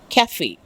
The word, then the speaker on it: cafe: Cafe. C-A-F-E, it has to be pronounced as cafe.